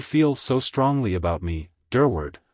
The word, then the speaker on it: Durward: so strongly about me durward when he used my surname he always accented the second syllable very strongly all you have to